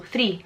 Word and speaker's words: three: Like instead of rolling your R, like three. Wow, I didn't do a very good job there. Three. We don't pronounce that like that, we just tap our R, so three. You're not like rolling it.